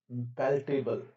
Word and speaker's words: palatable: Whether it can offer any compromise that the farmer might find palatable, sorry guys इसका pronunciation होगा पैलेटेबल, पैलेटेबल, हाँ पैलेटेबल remains to be seen.